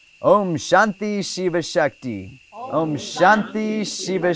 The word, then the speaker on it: Shanti: Lakshmi it's incorrect Lakshmi Shanti is a long a so you can put a line over that a Shanti no line over the